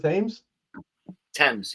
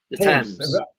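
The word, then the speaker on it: Thames: Tames. Yeah, the temps. I can't pronounce stuff.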